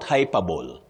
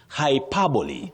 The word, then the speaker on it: hyperbole: The second word, hyperbole. Not hyperable. Hyperbole.